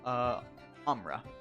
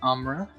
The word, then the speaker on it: Amra: So, this is the goddess, Amra. She is Can you the spell that?